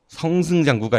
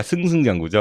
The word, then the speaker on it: 승승장구: 그것도 나 어떻게 했는지 모르겠는데 YG 같은 경우에는 이제 양현석이 만든 YG 같은 경우 지금까지 승승장구하고 있고 성승장구가 아니라 승승장구죠.